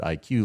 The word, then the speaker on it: ikuw: And it really represents, as Leanne had pointed out, we pronounce it IQ, like intellectual quotient.